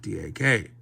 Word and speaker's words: DAK: see there's there is an acronym that I would pronounce DAC Dak um oh I love